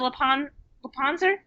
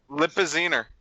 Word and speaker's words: Lipizzaner: It's not a Lepanzer. Lipizzaner. Is it really? Well, I mean, that's how I've heard it pronounced.